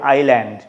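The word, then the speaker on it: island: এস এস দিয়ে যখন আমরা বলি আইল্যান্ড তখন এসটা সাইলেন্ট থাকছে।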